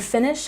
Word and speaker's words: finish: And finish has stress on the first syllable. Finish, finish.